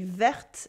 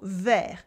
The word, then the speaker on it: vert: Vert in French means green with a silent T. We don't say verte in the masculine form, we say vert. It's part of the French